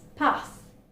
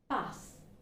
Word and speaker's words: path: Again, it's not path, it's path, path.